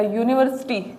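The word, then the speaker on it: university: जैसे ए book, अ डॉग, अ यूनिवर्सिटी, इसमें ध्यान देना कि ये जो नाउन है वो स्टार्ट तो यू से हो रहा है, लेकिन इसका साउंड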